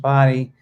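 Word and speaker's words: Bodie: lighthouse so it's it's spelled bod and it's pronounced body um it is open for climbing it opened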